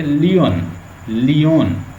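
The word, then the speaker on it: Lyons: According to the famous linguist Lyon, इसकी exact pronunciation ये लियोन।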